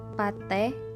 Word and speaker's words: petai: Ramai diucapkan rame, petai, petai diucapkan pate.